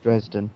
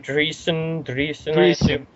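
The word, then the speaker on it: Dreessen: I don't know how that name is pronounced. Dresden. Totally. Dreesen. Dreesen, yeah. S Dreesen.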